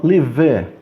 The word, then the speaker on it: live: Eu não falo live. Esse ele é mudo. Então eu falo live.